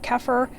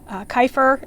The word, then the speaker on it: Kaffir: is well it's a cafe or kefir depending on how you say it kefir kaifer is another way perhaps lime tree so it